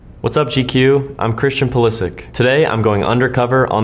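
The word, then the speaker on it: Pulišić: As far as I know, CP pronounces his name Pulisic. So why does literally half of the English media say Pulisic? Pulisic is how I grew up, and being in the States, that's just how I'm used to it. And that's how I've always said it myself. But Pulisic is technically the Croatian pronunciation, so that's why it is correct. So I'm actually okay with both.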